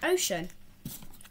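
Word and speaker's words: Ochun: Then her name is Ocean, but it's spelled O-C-H-U-N.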